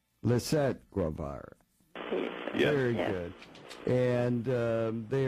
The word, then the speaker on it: Lisett Guevara: And with us are some authors who wrote a book, Jim Gulnick, and is it pronounced Lisette Guevara? Lisette Guevara.